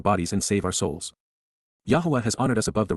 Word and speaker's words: Yahweh: is one God and he has one name Yahweh Yahweh the proper pronunciation of the name of eloah God as